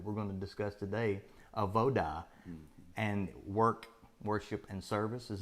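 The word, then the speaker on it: avodah: this concept that we're going to discuss today, AVODA, and worship and service.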